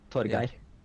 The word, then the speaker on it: Torgeir: So you pronounce it at the start, Tor, which is really cool. We have a similar name in Norwegian, only with a T, Torgeir. Yeah.